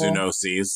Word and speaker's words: zoonoses: Zoonoses. What is that? Right. Animal diseases. Zoonoses. Oh, okay. Zoonotics. I never know how to pronounce it. Like zoo. Yeah. Sounds like it smells. Noses.